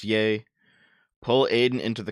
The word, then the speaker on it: Ye: done we already did yay is pronounced yay pull Aiden into the